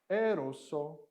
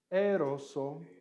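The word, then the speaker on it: ἔρρωσο: it if it is to one person it's eroso eroso if it is to multiple people it is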